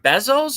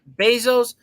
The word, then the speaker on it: Bezos: do you say it is it bezels or Bezos Bezos he's also interested so